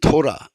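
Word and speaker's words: תּוֹרָה: 이 토우라 히브리 말로 토우라흐 음역입니다. 예, 이 토라 발음은 토라입니다.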